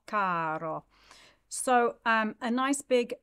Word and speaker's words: caro: Caro, the first syllable is the emphasized one there.